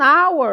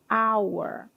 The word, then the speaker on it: hour: An hour é o próximo. Uma hora. Apesar de estar escrito com h, a pronúncia desse h. Hour.